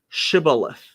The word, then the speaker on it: shibboleth: but um in in english it's it's uh pronounced shibboleth um and yeah it's head of green um